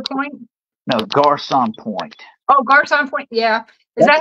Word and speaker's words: Garçon Point: Oh, Garçon Point, yeah.